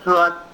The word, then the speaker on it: froid: Buffet froid, froid means cold. It's pronounced as froid.